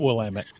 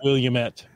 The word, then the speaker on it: Willamette: lesson I should learn um Willamette I got I got Willamette okay I'm really doing well you're ahead of me I I made the Williamette what's on the countertops yeah